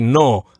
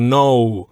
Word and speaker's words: no: In Spanish, just eliminate that U sound at the end. Just say no, as opposed to no. So just say no. So when an English speaker says the word no, when we're on the O part of the word, we tend to close our lips like no. But you're saying to sort of leave your lips open like no. Exactly. On one dry sound, no.